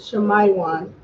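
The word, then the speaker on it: שמעון: name yes yes God there's no ass sound in Hebrew Simeon is Shayan Shayan Shaya so everyone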